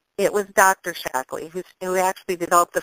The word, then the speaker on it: Shaklee: okl EE and not ly what's the proper pronunciation maybe you can set us straight Miley well it is shaklee it was dr. Shackley who knew actually developed the first vitalize middle